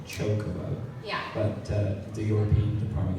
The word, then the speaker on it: chocobo: usually when North American voice actors say it, they say chocobo. Yeah. But the European department get very funny about it. They say chocobo. It sounds more like chuck. Chocobo.